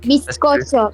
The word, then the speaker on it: bizcocho: Bizcocho.